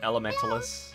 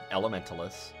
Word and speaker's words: Elementaliss: this game is called Elementalist. If you can't read, I just read it for you. Elementalist. It sounds like somebody that's trying to say elementalist but doesn't realize there's a T.